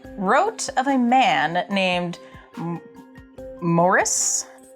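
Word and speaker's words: Moeris: of a man named morris that's an m okay that's how it pronounces morris he used herbs and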